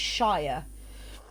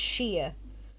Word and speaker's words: shire: how to pronounce them anything with sheer s-h-i-r on the end americans always pronounce it like you would lord of the rings and it's shire whereas more often than not you pronounce it like a like a varnish and it's sheer we should find interesting